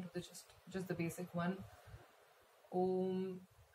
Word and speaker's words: Om: Om. Make sure that both the syllables are of equal length, O and M.